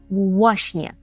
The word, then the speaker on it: właśnie: ну і власне по-перше треба попрацювати з вимовою цього слова тому що у нас там на початку є збідтка така скупчення звука в і у які і у польській мові вимовляється зовсім по-різному Так це в А це в ввашнє ввашн ввашнє і це означає Ну